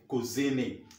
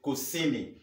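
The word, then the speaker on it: kusini: easy to see me some people say cozy me those are put poor pronunciation friends it's not cozy me could give me something else but we say could see me so South South number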